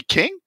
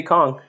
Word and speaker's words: Kong: works of aleran kong is it supposed to be king did they spell it wrong no it's supposed to be kong okay got a unique